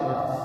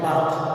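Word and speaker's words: berth: B-I-R-T-H बर्थ. Second इसका जो pair है इस वाले का वो है B-E-R-T-H बर्थ. B-E-R-T-H देखें प्रोनाउंसिएशन सेम है बर्थ, ठीक है? स्पेलिंग डिफरेंट है, मीनिंग जो है वो डिफरेंट हो जाएंगे.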